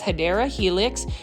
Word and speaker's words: Hedera helix: And over here is another Hedera helix, or the correct way to say it is Hedera helix.